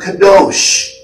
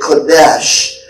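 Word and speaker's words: קדוש: In the Hebrew, it's the word kadosh. K-O-D-E-S-H. You can also pronounce it kadesh.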